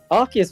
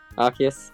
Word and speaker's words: Arceus: Arceus was actually fine.